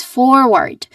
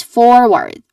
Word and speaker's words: forward: Following this is forward where which has two distinct syllables. Uh first syllable is four with a four. So it's a little bit longer a long o vowel sound. And this is also um the emphasis the stressed syllable in this particular word. Following this syllable is ward. Again ward which has a schwa sound. So there's a weak unstressed a vowel sound here. So again this word is forward.